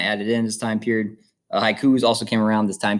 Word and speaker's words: haiku: syllable so for example taking the word haiku so it's hai ku so you kind of notice how there's like two parts to it hi and then ku so i say those two parts in you know one breath for each part so it's made of two syllables all right so haiku